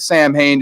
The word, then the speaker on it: Samhain: that I was at Samhain just because of dr. Loomis but it's technically pronounced Alan right so how we